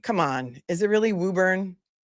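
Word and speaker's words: Woburn: Wuburn. Come on. Is it really Wuburn? It's Wuburn.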